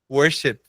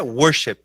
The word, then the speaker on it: worship: significa Adoração adoração e o jeito certo de falar mesmo é Worship né a o a a sílaba mais forte é no começo aqui Worship Fala aí Worship